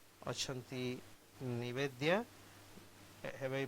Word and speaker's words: निवेद्या: एफएम आजी आम आजिर अतिथि कार्यक्रम रे अछंती निवेद्या have I pronounced your name rightly?